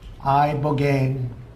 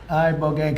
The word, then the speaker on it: ibogaine: Ibogaine. Remember the name. Is that pronounced relatively properly, would you say? Yes. I don't want to get it wrong. Ibogaine cuz it's so important and experienced an 80